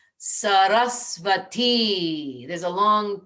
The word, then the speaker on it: Saraswati: And in case there's any question on how to pronounce her name, it's the final syllable that gets the emphasis. So and then the second syllable also gets a little emphasis. So it's Sarasvati.